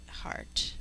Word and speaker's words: heart: and think e art the e is actually silent when we say heart but we need to